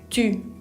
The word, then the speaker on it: tu: Tu. No quiero que lo pronuncien tú, sino tu.